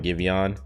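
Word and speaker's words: Giveon: um music music recommendations i've been listening to a lot of givian i think that's how you pronounce his name g-i-v-e-o-n uh i let spotify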